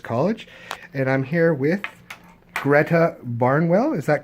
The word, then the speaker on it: Gretta: I'm a JOPB first year student here at Loyalist College, and I'm here with Gretta Barnwell. Is that correct? That is? Can you spell that out for me just to make sure I have it correct?